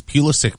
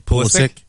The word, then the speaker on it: Pulisic: So is Pulisic playing, or however you say his name? Pulisic?